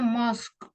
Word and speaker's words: mosque: Bukan, bacanya mosque. U sama E-nya nggak usah dibaca.